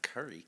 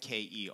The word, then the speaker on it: Kerry: No, not Curry.